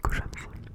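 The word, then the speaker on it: Kocham cię: En polonais, ça se prononce kochamsi.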